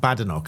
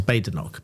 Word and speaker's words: Badenoch: Kemi Badenoch. And I understand that it's Badenoch, as I I hear some people um saying it differently. I think she's corrected some someone before. It is Badenoch.